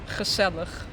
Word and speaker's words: gezellig: And then we say gezellig.